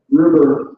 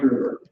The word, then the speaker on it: Gruber: Okay, Frank Gruber rhymes with Uber. So Frank Gruber.